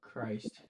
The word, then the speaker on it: Chris: We got is it Chris or Crit? Oh Christ. It's Chris. You said it right the first time.